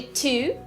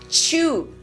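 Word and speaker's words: two: É a pronúncia de to, que muita gente fala chew. 1, 2. Na verdade, chew parece mais a palavra mastigar em inglês, que se escreve dessa forma aí. O número 2 é produzido com essa aspiraçãozinha, assim, não é ch, é t, 2, 1, 2.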